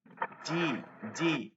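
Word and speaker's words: جيم: জাহারা যাচ্ছি হ্যাঁ যাচ্ছি যেমন একদম শক্ত করে বলতে হবে জিম জিম জি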